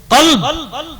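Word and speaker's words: قلب: জানেন আরো একটা উদাহরণ, কলব। আমরা বড় কব বলি যার উপরে দুটো নোক্তা, তা কলব এইটা, এই যে জায়গাটা কলব, দিল, এটা দিল। আপনি ওটাকে যেই বলছেন কলবুন, কলব আর কলবুন, শুধু ভাবেন একটা বড় কাপ আর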